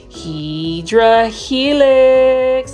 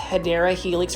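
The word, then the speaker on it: Hedera helix: for me to say HRA Helix sorry guys I had to throw that in there I know that it's actually pronounced hadera Helix for English ivy but that's really for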